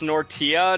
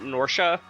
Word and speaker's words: Nortia: It's Nortia, not Northia. That's okay. Maintain current course and speed. Okay, I guess I didn't pronounce it quite the same way that he did, but point is it's a hard T, not a sh sound.